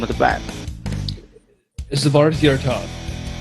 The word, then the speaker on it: Svarthjärtad: Svarthjärtad. Okay, almost made it. It's Swedish.